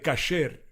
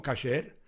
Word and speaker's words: kasher: y eso no es kasher de Pesaj. Pronunciación incorrecta de kasher. Kasher, se dice kasher en hebreo, que significa preparado según las reglas dietéticas judías.